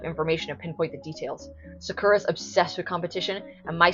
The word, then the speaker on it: Sakura: watch Cardcaptor Sakura, and the American dub, they're like Sakura, they pronounce it Sakura, which I always thought was like quite a gross pronunciation. Like I never liked how that sounded. Sakura, you know, like I feel like that's how it's supposed to be.